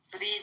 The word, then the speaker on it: vrede: We say peace, but Belgium. just peace as well. Vrede, Okay. vrede, vrede, Vrede? vrede, yeah, bro. Vrede. Vrede, like, bro, I write it. Spell it. Yeah, vrede with a V.